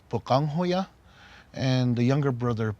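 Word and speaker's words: Pöqangwhoya: our culture, and the older brother's name is pronounced Bukanghoya, and the younger brother Palungahoya.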